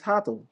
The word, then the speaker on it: Hato: It's Hato. It's Hato. It's pronounced, it's Hato. What does that spell?